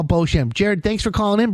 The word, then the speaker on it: Beauchamp: Beauchamp is spelled B-E-A-U. Champ, with like champ. C-H-A-M-P.